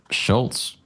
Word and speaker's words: Schultz: Schultz. I don't hear the T pronounced, man.